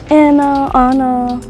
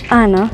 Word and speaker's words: Anna: My name is Anna. That's how you pronounce it. A lot of people say Anna, doesn't matter to me. I prefer Anna, right? Like the Spanish accent way to say my name, just because that's what my family calls me and everything.